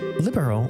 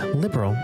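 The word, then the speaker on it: Liberl: Libero is liberal but libero.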